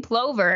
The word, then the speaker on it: plover: Some pronounce it plover, while others pronounce it plover. So there is a divisive word we've got here. I have always said plover, but we did do a Twitter poll a while ago, and it pretty much came back split in half that it is pronounced plover and or plover.